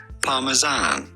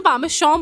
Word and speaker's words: Parmesan: In English or American, it is pronounced Parmesan. तूने पामेशान बोला ना, गलत हो गया ना.